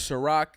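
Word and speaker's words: Xaroc: artists of our intro his name is shirak is spelled x-a-r-o-c and the song is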